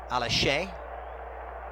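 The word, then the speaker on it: Alashe: Alaché, Fatai Alaché, I've been informed is the proper pronunciation.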